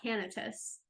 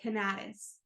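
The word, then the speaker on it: Canatis: name is Gregory W I think it's pronounced canis okay it's CA n a t i s okay I thought canus but I listened to a podcast that said canis okay so I'm gonna say cantis and hope that I'm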